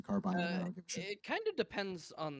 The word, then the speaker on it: carbine: double triple doubted myself they might have called them carbin back then I don't know I've always pronounced it a carbine it kind of depends